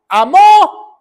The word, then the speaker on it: amó: tal manera Dios amó amó con acento en la o qué quiere decir o